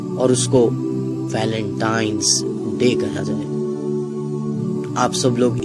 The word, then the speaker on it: वैलेंटाइंस डे: नाम पर गौर करें इसे जो आम कहा जाता है यह वैलेंटाइन डे है लेकिन हकीकत में जो इसका प्रोनाउंस एशन है वह है वैलेंटाइंस डे य एक वैलेंटाइन वाला